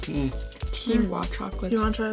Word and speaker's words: quinoa: Oh, quinoa. Addie knows how to pronounce things.